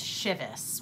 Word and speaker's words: Chivas: Now, my name is spelled C-H-E-V-A-S, which is pronounced Chevis. I believe that the bottle is Chivas, which is C-H-I-V-A-S.